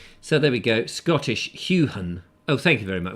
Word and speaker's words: Heughan: Huey Gahun. How? It's Heughan.